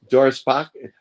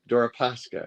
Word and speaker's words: Deripaska: I always get his name wrong. Deripaska. Deripaska.